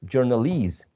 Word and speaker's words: journalese: Stress falls in the second syllable, employ, but employee. Journal, you see, journal, but journalese.